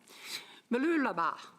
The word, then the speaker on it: Mooloolaba: If you want an excuse to go to Australia next week, I suggest you visit Mooloolaba, if I'm saying it right. Mooloolaba, got it.